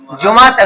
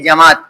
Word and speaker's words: جماعت: جماعت غلط تلفظ ہے، اصل میں اس کا تلفظ ہے جماعت، جماعت نہیں ہے.